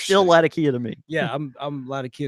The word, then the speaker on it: Latakia: He's saying Latakia. Oh, yeah, and that's So our friends, a lot of friends from overseas, they and some folks in the States will pronounce it Latakia. That probably is closer to the original way of saying it.